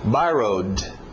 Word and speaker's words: borrowed: Passado regular, ED no final, eu coloquei só um D para vocês fazer a pronúncia só de um D. Borrowed. Para naquele D, borrowed.